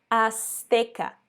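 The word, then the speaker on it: azteca: depois a gente tem a palavra asteca por mais que a gente escreva com o z o som é ds as e agora não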